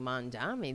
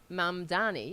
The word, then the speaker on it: Mamdani: I mean, the establishment Dems, they, instead of, just bashing Mondani, they should see, I'm sorry if I'm pronouncing, how am I, Mamdani, yeah, I'm saying it right.